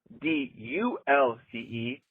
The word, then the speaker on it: dulce: If it's d u l c e, it's Spanish and it's pronounced dulce.